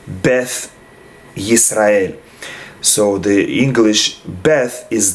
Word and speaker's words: Beth Israel: that is because uh beth israel is spelled with a tough without the dagesh and so according to the the safari pronunciation in some communities they would say beth israel so the english beth